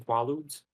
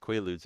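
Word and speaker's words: Quaaludes: You've been taking qualuds. They're pronounced quaudes and they're not distributed in America.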